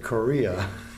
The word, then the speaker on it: Correa: company my company and his name is cor EA and we pronounce it korea so bi Joseph Correa